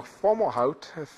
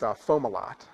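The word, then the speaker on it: Fomalhaut: around planets so uh FAL how no actually it's pronounced fomal lot sorry is a star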